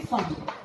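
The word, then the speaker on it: Pfund: Lyman, Balmer, इसको कहते हैं पाश्चर, इसको कहते हैं ब्रैकेट, और इसको कहते हैं फंड। पी साइलेंट है।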